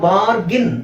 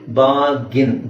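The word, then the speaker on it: bargain: ಸೋ ಇಲ್ಲಿಎ ಇದೆ ನಾವು ಬಾರ್ಗಿನ್ ಅಂತ ಹೇಳಬೇಕು ಅದನ್ನ ಬಾರ್ಗಿನ್ ಇಲ್ಲಿ ಆರ್ ನು ನೀವು ಸೈಲೆಂಟ್ ಮಾಡಬಹುದು ಆರ್ ಸೈಲೆಂಟ್ ಮಾಡಿ ನಾವು ಉಚ್ಚಾರಣೆ ಮಾಡೋ ಪದ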